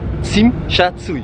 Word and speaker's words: Tsim Sha Tsui: Je me suis entraîné depuis 2 h du matin jusqu'à maintenant, qui est 8 h, pour prononcer ce mot. Tsim Sha Tsui.